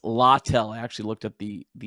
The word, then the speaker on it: Littell: It's Littell. I actually looked up the pronouncing.